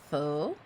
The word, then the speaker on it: faux: It's pronounced faux.